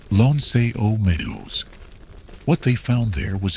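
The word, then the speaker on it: L'Anse aux Meadows: This is pronounced Lon Meadows.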